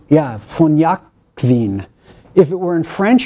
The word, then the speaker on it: Jacquin: I'm going to pronounce this in German because it's got a V-O-N in front of it. Von Jakwin, or I should say, von... Is that right? Yeah, von Jakwin.